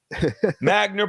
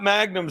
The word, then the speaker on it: Magner: spell it Magner hey Magner but not Magnum says Courtney body Courtney